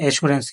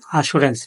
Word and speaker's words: Assurance: এক নাম্বার শব্দ এটা আমরা উচ্চারণ করি এসরেন্স। ইংরেজরা উচ্চারণ করে আসুরেন্স।